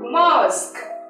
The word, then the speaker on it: mosque: reading and fluency so we have a syllable here Mo this is these two are silent at the end so what's the word the word is mosque okay let's go I